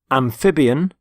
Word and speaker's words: amphibian: Amphibian, carnivore, herbivore, omnivore, predator, prey, parasite. And the first word is amphibian. Amphibian. Notice the stress on the middle syllable. Amphib. Amphibian.